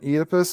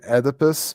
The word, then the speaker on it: Oedipus: edipus or edipus uh i prefer the british pronunciation oedipus as opposed to the american way of saying it oedipus so let's stick with the british version oh sweet speaking voice